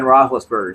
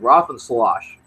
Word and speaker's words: Roethlisberger: say his last name i would correct her and say it's ben roethlisberger she said roth and sloshed I was like that's close enough grandma he just watch your